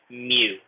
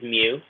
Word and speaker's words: mu: at the front is actually pronounced mew kind of like a cat right this is mu mu it's a greek letter